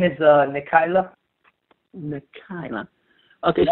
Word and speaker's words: Nikyla: wife name my wife's name is uh Nika nikila okay spell it for me uh n i k y